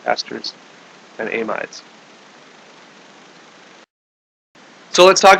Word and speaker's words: ester: Okay, ester, this is spelled a little bit different than Esther in the Bible there, E-S-T-H, or the ester, the name, but it's pronounced the same.